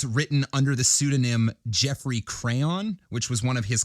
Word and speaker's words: Crayon: Many of the short stories written under the pseudonym Jeffrey Crayon, which was one of his common pseudonyms. Crayon? Like crayons? That's how it's spelled, yeah. Like a crayon.